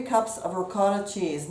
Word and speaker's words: ricotta: about 3 cups of ricotta cheese now some people pronounce that regard so either way I drained